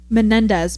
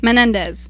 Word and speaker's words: Menendez: I don't know why my brain refuses to pronounce Oh, I'm messing it up again. Menendez properly. Menendez. Menendez. There's another syllable.